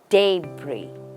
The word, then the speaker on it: debris: the first part is stressed day and the last part is not stressed Bri day Bri let's